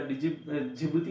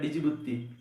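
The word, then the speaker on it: Djibouti: पढ़ा, पर एक आधे टीचर ने इसका जिबूती का नाम क्या लेता है, डिजिबुत्ती, ठीक है। उनको ये भी नहीं पता कि इसका नाम जिबूती, इसका क्योंकि इसकी जो स्पेलिंग है इंग्लिश में वो क्या है, ठीक है। तो डिजिबुत्ती यूं पढ़ते हैं बहुत सारे टीचर, जो इसको क्या पढ़ते हैं, डिजिबुत्ती पढ़ते हैं।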